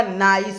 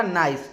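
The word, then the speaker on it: nice: सीई इसको बहुत कोई क्या पढ़ लेते हैं निस पढ़ लेते हैं लेकिन इसका जो है ना उच्चारण क्या होगा नाइस होगा इसका उच्चारण क्या होगा नाइस ठीक है नाइस का मतलब क्या होता है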